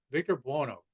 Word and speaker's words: Buono: victor her my name is victor bono there you go victor bono that's how he pronounces it um and this was